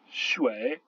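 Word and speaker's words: 水: UI se prononce wei, comme dans mouais, par exemple le mot qui veut dire l'eau, shui.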